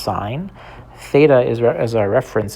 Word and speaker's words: sine: This is not sin. It's pronounced sign.